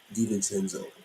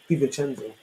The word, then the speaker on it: DiVincenzo: DiVincenzo. DiVincenzo.